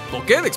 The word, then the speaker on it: Pokédex: eso es una o que de una pokédex pokédex porque tiene acento en la y eso es una pokédex así